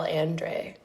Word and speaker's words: Andre: This is a conversation between me and it's um a conversation about Carl Andre who he actually pronounces his name Carl Andre.